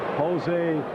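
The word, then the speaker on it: José: abyss oh and - you got to say his name right Jose that's how they say it down here is Sun of course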